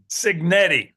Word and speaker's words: Cignetti: I can never pronounce his name. I know it starts with what? Canali signetti.